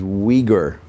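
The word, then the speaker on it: Uyghur: form of Turkish yes this is weager okay that's a word you probably haven't come across before u i g h u r is how you spell it it's a uh a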